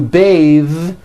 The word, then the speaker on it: bathe: But when you change it into a verb, to bathe, the vowel changes to an A sound and the TH is voiced.